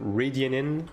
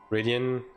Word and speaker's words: Radian: Is it Rianin or is it Ryanin? Oh, yeah. Thanks a lot. Appreciate it. Radian. Ah, I see. Makes sense. It's a bit easier to to pronounce.